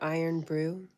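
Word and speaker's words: Irn-Bru: Lee says, "Iron brew." Pronounced iron brew.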